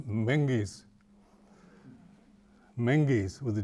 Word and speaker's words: Means: She said, "You understand though that the Means family is a Gaelic family and the name is pronounced manges, manges with a G."